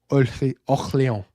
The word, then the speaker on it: Orléans: Since we're all talking about my French accent tonight, the Orléans. That's how you say that in French, y'all.